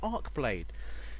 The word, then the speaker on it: Archeblade: welcome to let's try what I believe is pronounced arcblade this is a game